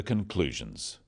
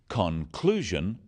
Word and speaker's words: conclusion: In words, one syllable is stressed. The wrong stress makes it hard to understand. So, conclusion, not conclusion.